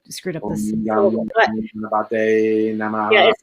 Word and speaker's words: Ganapataye: It's Om Gam Gamanate Namaha. I screwed up this. Om Gam Ganapataye Namaha.